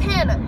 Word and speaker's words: Hannah: My name is Hannah. It rhymes with banana.